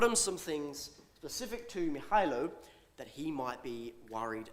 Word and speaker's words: Mihailo: Mihailo, and I did check the pronunciation of that one, is a 25-year-old recent